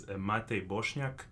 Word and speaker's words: Matej Bosnak: Okay, so the real pronunciation is Matej Bosnak, but I know that for the English speakers it's pretty tough. So anything close to that, I'm gonna take it.